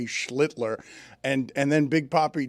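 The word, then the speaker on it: Schlittler: Every single one of you pronounce his last name. You kept first. Schlitler. Oh, well, he's the master. Schlitler. Slitler.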